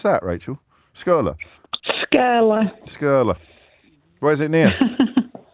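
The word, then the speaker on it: Skirlaugh: How do I pronounce that, Rachel? Skurla? Skurla.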